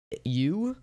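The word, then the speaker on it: ewe: used can be milked it's pronounced to you okay cool thank you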